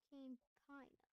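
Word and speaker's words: Câmpina: Well, Campina.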